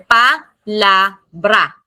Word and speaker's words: palabra: We have three syllables here. Palabra. So saan ilalagay ang stress? Kaya siya dito nilagay sa stress sa la.